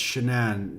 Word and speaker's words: Shannan: That Shannan is pronounced like shenanigans.